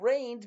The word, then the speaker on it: reign: Um and rained meaning is is not like rain from the sky. It's not precipitation. Rain it's spelled rei gn is a pyramid of time where somebody rules.